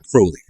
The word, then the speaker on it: Crowley: Crowley rhymes with holy.